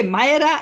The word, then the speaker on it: Mira: how to pronounce okay how to pronounce your name mira or mayra you know whether they saw it like you know written and i and i said okay myra is like you know it's like